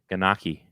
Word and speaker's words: gnocchi: Ganaki.